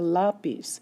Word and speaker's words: lápiz: They call it a lápiz. So the stress is here on the la. even though the word ends in a consonant and you expect it to be on the end of the word.